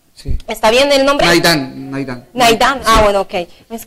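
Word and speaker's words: Nahitan: Pérez, Wilmar Barrios, colombiano, Najitán, Iván, Café Fodé, si se dice así, porque como la H a veces se pronuncia como J. Sí. ¿Está bien el nombre? Naidán.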